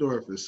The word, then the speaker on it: orifice: Orifice is a three-syllable word for hole.